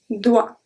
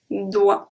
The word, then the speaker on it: doigt: So when we have GT at the end, we do not pronounce it. So we have le doigt. doigt, doigt.